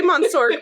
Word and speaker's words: monsieur: Kelly, say monsieur properly.